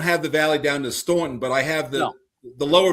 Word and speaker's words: Staunton: Did you just call the valley the town called Staunton? You know damn well these rednecks and hillbillies down there pronounce it Stanton.